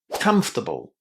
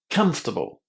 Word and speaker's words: comfortable: bl e in English is pronounced as able? It's always a bull. So in here we need to say to bull. And then the first syllable here contains the short a. Again, the same sound that we have in just or but. So, come. Oh, and there's another very important thing you need to remember about this word. It's only three syllables long.